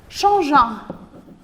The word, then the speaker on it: changeant: Arrivant à la maison, déposant ses affaires, changeant. Et attention, le verbe changer, vous avez besoin d'un E pour prononcer le G.